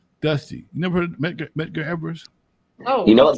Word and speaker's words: Medgar: Dusty, you never heard of Medgar Evers? Oh, you know what? Look him up. How do you spell that? Medgar. Oh, like Edgar? Medgar?